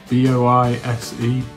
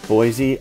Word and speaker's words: Boise: B-O-I-S-E, Boise? I think if it was Boise, it would have like another E or something. So I'm gonna go with Boise, Idaho. That's Boise, Idaho. Boise, Idaho.